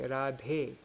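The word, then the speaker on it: राधे: if you want to say o Radha you say radhe um if you want to say you'd say like that a at the ends makes it um that's for if the last word is a long a or just any a then it becomes an e like I you know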